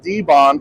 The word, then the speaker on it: Dibond: And I've been reprimanded to make sure I properly pronounce it. So we are going to call it debond for the rest of the presentation. All right. So what debond is is aluminum composite material.